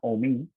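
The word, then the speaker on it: Hommy: Entonces, Omi, que se escribe H-O-M-M-Y, era sordo, ciego y mudo, pero tocaba el bongo. Entonces, mi papá por esa obra musical me iba a poner Víctor Omi, pero por temor a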